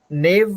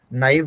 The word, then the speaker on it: naive: तो डिफरेंस ये है कि नेव नहीं होगा, नाइव होगा. अब नाइव में आप कितना कितना मसाला डालते हैं, नाइव बोल रहा है उतना. I don't think I हैव heard anybody pronouncing it that way, बट इट्स ना, नॉट ने, ठीक है?